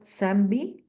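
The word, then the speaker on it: Sandby: Aquí estamos viendo a Paul, ay, ¿cómo se pronuncia esto, Alonso? Paul Sanby, Sí, Sanby.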